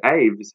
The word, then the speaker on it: Aves: we have AIDS and the word AIDS sounds like the word avery which is a cage for